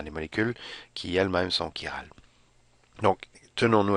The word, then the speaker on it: chiral: Et donc, ça ne se prononce pas comme chi, mais plutôt comme si c'était un K avec un I, chiral.